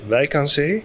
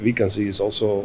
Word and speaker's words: Wijk aan Zee: We pronounce it though in Dutch Wijk aan Zee, but Wijk aan Zee is also fine.